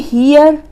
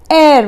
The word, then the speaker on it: heir: अब ये हियर, हेयर, हेयर नहीं है, एन एयर बोलते हैं इसको, HEIR एयर। मैंने लिखा है ना एयर, तो इसका मतलब है हमारा वारिस या फिर उत्तराधिकारी। एच साइलेंट है, एयर है, ए हमारा हिंदी का वॉवेल